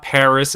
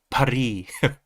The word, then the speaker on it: Paris: Yes, it's not Paris, it's Paris. Paris.